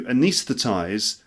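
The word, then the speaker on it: anaesthetize: this it's the job of the anesthetist to anesthetize the patients with an anaesthetic it's the job of the anesthetist to anis that there are it's the job of the anesthetist to anesthetize the patients with an anesthetic all right number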